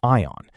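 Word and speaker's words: I'On: Ion, pronounced Ion in Charleston, South Carolina, is one of the loveliest neighborhoods in North America.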